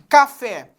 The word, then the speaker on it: café: Por exemplo, café. Café. Então, fé é a sílaba tônica. Está acentuada. Escritor.